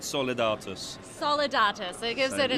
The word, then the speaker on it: Solidatus: You have to think of an Italian gentleman pronouncing a Latin word, Solidatus.